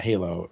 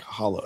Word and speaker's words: Halo: It's not Halo. It's like Hollow.